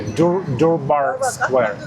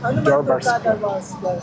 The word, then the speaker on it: Durbar Square: Guys, Guys, I'm about to enter, how to pronounce it correctly? Durbar Square. Durbar Square.